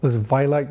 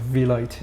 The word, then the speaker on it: V-Light: Some people call it Vi-Light, that's okay. But that's the origin of V-Light.